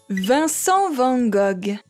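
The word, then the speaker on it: Vincent van Gogh: ヴィンセント・ヴァン・ゴッグ。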